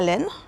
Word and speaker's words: Len: The yarn store is called Laal Len and the way I remember it is Lala and it's spelled L E N but I remember it like len the French word for wool or yarn.